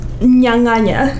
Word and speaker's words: nyanganya: Well, the word is nyanganya.